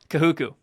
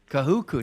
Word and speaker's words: Kahuku: Kahuku. Kahuku.